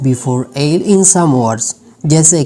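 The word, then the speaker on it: buffet: है तब टी का जो साउंड होगा वो साइलेंट होगा, जैसे कि बाले, बालेट नहीं बाले. इसके बाद बफेट नहीं बफे, बफे.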